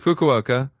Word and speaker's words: Fukuoka: It's pronounced Kukuoka and it's a city with its own strange charm and definitely a few good slices of weirdness to throw into the podcast.